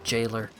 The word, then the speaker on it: gaoler: it's a gaoler I I know it's pronounced jail or Jailer the wash floor's all